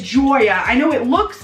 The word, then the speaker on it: Joya: didn't have to be like oh no it's Joya I know it looks like Julia but it's pronounced Troy it's different it was I didn't